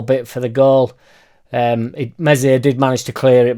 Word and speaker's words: Meslier: out so struck sold meslier silent s down river a little bit for the goal um mesier did manage to clear